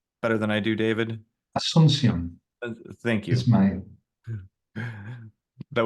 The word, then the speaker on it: Asuncion: And I don't know, do you know how to pronounce Jensen's last name better than I do, David? Asuncion.